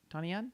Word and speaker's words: Donnie Yen: Yeah, Donnie Yen.